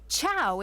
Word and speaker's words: ciao: place where Roman artists have gathered for centuries tchau is how you say hi in Italian go ahead give it a try ciao perfect you'd fit right in in fact rather